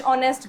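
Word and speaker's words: honest: चलिए शी is dash ऑनेस्ट girl. ये सबको पता है ऑनेस्ट में एच इज़ साइलेंट और इसीलिए हम इसमें किसका यूज़ करते हैं? एन का।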